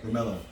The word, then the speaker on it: Romello: Romello.